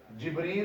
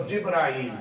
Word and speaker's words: Jibreel: Jibreel or Jibrail, both pronunciations are correct.